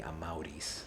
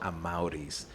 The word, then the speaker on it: Amaurys: So she took the beginning of my dad's name, Amado, but named me Amaurys. So Amado Amaurys.